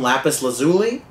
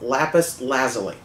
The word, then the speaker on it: lapis lazuli: it's funny a while back I used to pronounce some lapis lazuli which is entertaining to say but it's not the right pronunciation it's lapis lazuli first time I saw one was in Minecraft